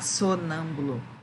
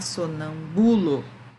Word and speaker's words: sonâmbulo: A gente não pode falar sonâmbulo, a gente não pode falar sonambulo, né? Então, tudo isso troca a questão da apresentação da palavra, né? A leitura da palavra. Se a gente sabe qual é a sílaba tônica, a gente está sabendo como é que pronuncia.